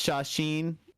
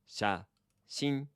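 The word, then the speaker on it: 写真: So how do you pronounce shashin slowly, if you would, Jay Sensei? Shashin.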